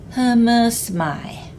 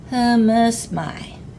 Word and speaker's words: Humusmai: Humusmai. I hope you pronounce that second fish head louder than the rest of the word. The A and I at the end is always pronounced I. Humusmai.